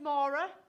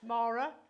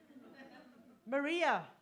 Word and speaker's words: Mara: well good I am my name is Mara uh that's pronounced Mara spell m a r a and the reason I'm pointing this out is because I get called Nora morak Morin Maria Moira all lovely names just not mine and about a year